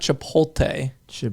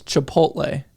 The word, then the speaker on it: Chipotle: said Chipotle ha Chipotle is a it's not chipot CH it's Chipotle oh yeah Chipotle I used to pronounce it like that when I was like